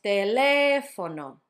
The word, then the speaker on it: teléfono: And last one is teléfono, teléfono, teléfono. Notice it's on the third to last syllable.